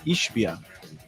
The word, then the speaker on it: Ishbia: He just doesn't spell it right. I completely agree with you. It should. What? What is it? It's Ishbia.